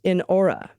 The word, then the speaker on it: Inara: And Inara, pronounced Inora, our house panther.